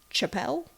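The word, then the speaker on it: Chappell: for music publisher chap Chapelle and Co Chapel it spelled like Chapel round so I'm going to say Chapel okay so Jenner agreed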